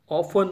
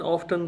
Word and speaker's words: often: Often, often, दोनों pronunciation ही ठीक हैं. एक American जो हैं वो often कहते हैं, American often कहते हैं, और British American कहते हैं.